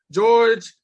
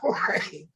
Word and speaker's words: Jorge: George Polanco. How you spell it? Polanco. Polanco. Jorge. Is it George or Jorge? Is it Jorge? Yeah. Okay. Yeah. Jorge.